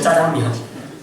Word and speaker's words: 짜장면: 번 먹을까 말까 아십니까 짜장면 발음을 세게 하면 짜장면 짜장면도 쳐주셨습니다 사고 은혜가